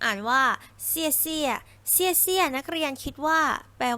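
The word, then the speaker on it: 谢谢: สุด ท้าย นะ คะ ที่ 4 อ่าน ว่า เซี่ยเซี่ย นัก เรียน คิด ว่า แปล ว่า ลา ก่อน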